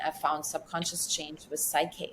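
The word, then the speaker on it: PSYCH-K: found subconscious change with Psyche. Psyche is spelled PSYCH/K, stands for mind keys.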